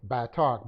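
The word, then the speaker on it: batach: ba talk back talk gotta keep saying the a for the short or long a bad talk b a b long a t a short a c h so b long a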